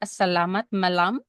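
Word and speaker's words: selamat malam: So first and foremost, I want to say good evening, and I don't know is if I'm saying it correctly. It's a salamat malam. Am I saying it correctly or not? Yes, it's correct.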